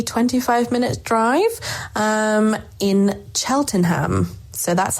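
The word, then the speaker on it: Cheltenham: Um, in Cheltonham. So, that's how it's pronounced just so you know for next time. Chelenham or Chelnham as we say here.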